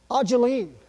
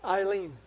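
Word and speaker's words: Ayleen: Ajeline, spelled A-Y-L-E-E-N, Eileen, but it's pronounced Ajeline.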